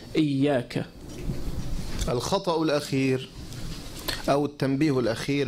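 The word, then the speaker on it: إيّاك: So you can see the ya has a shadda. So we need to emphasize on it. So someone might say, iyaka, without the shadda. But we should say it with the shadda. We should pronounce the emphasis, iyaka.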